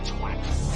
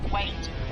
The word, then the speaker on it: Twat: Twat. Pronounced wait. Spelled twat. T-W-A-T. Twat!